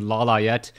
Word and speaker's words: Lawliet: with foggy I am trying to get used to saying Lala yet as that is the correct way to pronounce his name as many people have